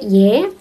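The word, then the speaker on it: 의: Terus yang terakhir partikel kepemilikan yaitu ei atau dibacanya y.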